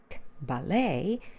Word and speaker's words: ballet: a diphthong oh filet filet is a word like ballet they are stressed on the second syllable ballet there of French origin